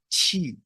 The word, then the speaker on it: qi: QI ya. QI ini disebutnya chi. Bukan ki, tapi chi.